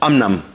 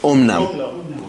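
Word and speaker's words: אָמְנָם: But here it doesn't work because here it's akan has to be pronounced as an o.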